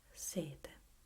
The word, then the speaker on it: sete: And the same goes for these other words. Sette, sette, sete, sette, sete. Can you hear the difference?